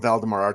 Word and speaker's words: Valdamar: moves so fast no so so valdemar and I'm I'm pronouncing that correctly right yes you are oh perfect at least